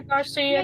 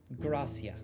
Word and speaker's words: Gracia: It's not It's Gracia. Not Not Garcia. Can you spell that? I want to do something awful. It's like Garcia, but you move the R and the A.